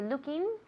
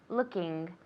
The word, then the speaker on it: looking: Okay, very good, but I want you to pronounce the NG at the end. I'm looking, okay? It's a nasal sound, and a lot of people say looking, so it's looking.